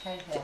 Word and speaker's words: Cahill: Everybody says Cahill, but I spoke to the guy from Australia when he was here at International, and he said I got it right. It is pronounced Cahill.